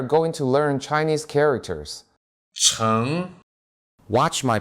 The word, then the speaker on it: 城: 成 Watch my pronunciation.